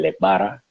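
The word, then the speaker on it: Elegbara: El leguá, como decían allá, el leguá o el legbara, es como se pronuncia correctamente, el legbara, todos estos orichas, los caracteres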